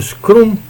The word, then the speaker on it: Scrum: Agora vamos lá no Scrum, né, o funcionamento do Scrum. Scrum ou Scrum? Scrum como se fala em inglês, né? A brasileira, né?